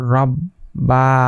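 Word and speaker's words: رَبَّا: বা জবর বা রব্বা এখানে দুইবার পড়তে হয় কারণ প্রথমে ডানদিকের হরকতের সাথে এই যে তাসদিদ আছে তাজদিদের ডানদিকের হরকতের সাথে একবার পড়তে হয় যেমন র বা জবর রব আবার নিজের সাথে নিজের যে অক্ষরটা আছে বা এই অক্ষরের সাথে আরেকবার পড়তে হয় র বা জবর রব্বা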